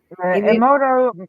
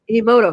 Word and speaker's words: Emoto: How do you pronounce his name? Emoto, Emoto.